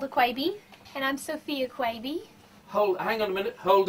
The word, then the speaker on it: Quebe: that right lady 7 it is Quay V but it's spelled qu eb e let's do some introductions